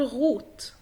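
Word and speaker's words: rot: وانا لسه كنت هنا فوق بقولك لو جه حرف متحرك بعد الار ينطق غين. على سبيل المثال اهو عندك حرف الار وبعديها او، فطبيعي ان انت تقول غوت.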